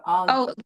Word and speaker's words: Algiz: This is Algiz. Yes. 15. If Do you want me to correct you or no? Algiz. Oh, yeah. Algiz, okay.